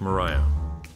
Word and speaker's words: Maria: they call the win Maria performed by har prell featured a train vocalist the pronunciation of Maria in the song is distinct sounding like Mariah the nitty-gritty Dirt Band